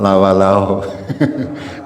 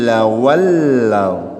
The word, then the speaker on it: لولوا: Jangan lawalau tapi harus tajudnya dibetulkan ya, muddakhalan lawallau ya.